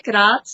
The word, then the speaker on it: Graz: Is that how you say it? Graz? Graz, we say Graz, yes.